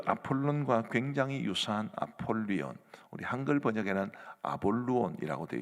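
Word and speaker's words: Ἀπολλύων: 이 아볼루온이라는 말이 나오는데, 제가 헬라어로 발음을 해드릴 테니까 뭐하고 비슷한지 한번 보시기 바랍니다. 아폴리온, 뭐하고 비슷합니까? 태양신 아폴론과 이름이 굉장히 비슷하지요.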